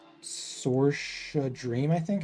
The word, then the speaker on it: Saoirse: Voice claim for Mara is this hyperpop artist called like Sorsha Dream, I think. It's like, I don't even know how do you spell it, or how do you pronounce this? No. Saoirse? Saoirse.